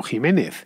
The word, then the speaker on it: Ximénez: muy común pero si encontraréis xxi ménez por ahí se tiene que leer como como jiménez bien pues esta es